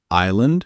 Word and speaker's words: island: And don't forget, silent letters are everywhere, like island, missing the s or Wednesday, hiding the d.